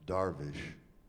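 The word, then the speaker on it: درویش: the word uh dervish is actually a Persian word in which in that language it is pronounced darish the word dar means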